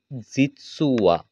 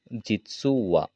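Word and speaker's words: じつは: এরপরেরটা হচ্ছে আসলে বা সত্যি বলতে আমরা ব্যবহার করব জিতসুওয়া, জিতসুওয়া। এই হা বর্ণটা যদি শব্দের প্রথমে বসে সেক্ষেত্রে হা উচ্চারণ হবে, আর যদি শব্দের শেষে বসে সেক্ষেত্রে আমাদেরকে ওয়া উচ্চারণ করতে হবে এটা।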